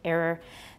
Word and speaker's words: error: Similar disagreements also arise over words such as mirror and error. These two you should watch out because a lot of you pronounce the O and you should just pronounce a schwa.